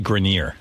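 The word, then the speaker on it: Grenier: It's actually Grineer. Adrien Grineer.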